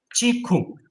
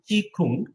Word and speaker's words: Qigong: So it has its origin from another very ancient Chinese art called Qi Kung. Qi Kung, which is written as Qigong, Qigong. That's how written in English, but pronounced as Qi Kung.